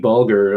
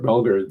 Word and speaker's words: Bulger: i don't know where whitey bulger or belger bulger i guess is it's pronounced the uh irish-american mafia